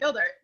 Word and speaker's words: Geldart: Your last name, Geldart? you got it, Geldart. Wow, okay, yeah, I've never actually pronounced it.